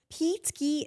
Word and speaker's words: Peteski: Peteski.